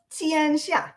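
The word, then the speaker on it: 天下: And I might say, can you tell us how to properly pronounce Tiansha, a word I've used many times myself, the mandate from heaven? Yeah, 天下, right?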